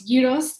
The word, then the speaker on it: gyros: to be preparing some heroes for you um some people may know them as gyros or gyros but my greek best friend always tells me to pronounce gyros so i'm going to